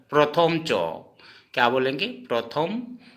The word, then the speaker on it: চ: ठीक है दोस्तों, हिंदी असमिया और हिंदी में असमिया वाला उच्चारण। ठीक है, अब जैसे च, हम इसको पढ़ेंगे च, लेकिन असमिया में पढ़ेंगे चो, प्रथम चो।